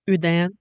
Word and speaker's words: Houdan: go wrong perfect that's a perfect chicken the hudan was developed in the village of hudan well of course in normandy france actually it's correctly pronounced udan lots of sources say that the hudan is